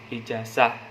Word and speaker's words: ijazah: kelima sering juga Hai penulisan atau pengucapannya salah yaitu ijazah Gimana menggunakan huruf s yang sebenarnya adalah menggunakan huruf z jadi yang bener itu ijazah ijazah gitu pakai ada penekanan huruf z nya Namun teman-teman kita ataupun